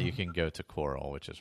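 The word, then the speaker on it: Chorrol: If not, you can go to Coral, which is right there. Yeah. Or Choral, whatever you want to call it. I heard it pronounced Coral in the city, so I'm going with Coral.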